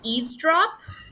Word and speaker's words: eavesdrop: up it's um it's it's pronounced eavesdrop so Eaves drop leaves Rock like that oh okay pronunciation eavesdrop